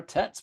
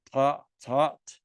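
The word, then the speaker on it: טית: we don't pronounce it I usually say tet I don't say taught but you can pronounce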